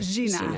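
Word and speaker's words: Jina: woman and in fact her Kurdish name is actually Hina is that I pronounce it correctly Gina Gina thank you now why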